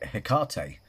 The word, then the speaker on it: Hecate: give offerings to, say, Hecate, or Hecate, sorry, Hecate. I mean, both pronunciations is right.